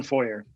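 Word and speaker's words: Shawm: your last name again it it it's for you for you not like it's spelled at all it sounds like a church foyer almost right yeah sean foyer okay cool sean but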